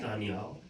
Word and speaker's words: Daniyal: So Danielle is pronounced like the D, pronounced like THE, like da. Okay. Danielle.